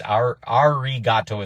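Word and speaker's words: ありがとう: Arigato is the way it's spelled with an R, but they pronounce R's and L's.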